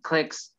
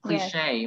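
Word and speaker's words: clique: one avoid favoritism and clicks line fifty line fifty ah yes and clicks i thought i thought it said cliche but i i'm wrong you're right it's clicking is what we say when we say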